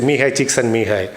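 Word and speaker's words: Mihály Csíkszentmihályi: It's a very weird pronunciation, but this is how you have to say, Mihai Csikszentmihalyi. One of the greatest psychologists alive.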